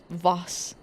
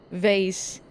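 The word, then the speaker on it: Vath: Believe it is pronounced Vas. Vase. Vas. Vase. I use it interchangeably, and I don't care.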